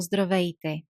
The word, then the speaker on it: здравейте: How do we pronounce здравей or здравейте? You see, we have three consonants, one after each other. Z, D, R. Zdr. Здравейте. Здравейте.